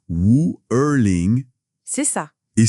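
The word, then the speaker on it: 五二零: En mandarin, les chiffres 5, 2, 0, ça se prononce Wu Erling. C'est ça. Et si on le dit vite, ça sonne vraiment proche de Wo Ai Ni.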